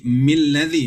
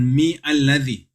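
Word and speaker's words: مِنَ الَّذِي: alladzi bukan adzi atau bukan adzi tapi kalau mau sambung maka Hamzah wasalnya Enggak dibacazi milladzi bukan mi alladzi ya keliru kalau bilang mizi itu keliru tapi karena ini Hamzah wasal makailadziah seperti itu bacanya jadi kaidahnya adalah membaca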